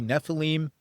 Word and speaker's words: Nephilim: the show, we know it's supposed to be Nephilim, but we're from New York and New Jersey, we're just going to go with Nephilim.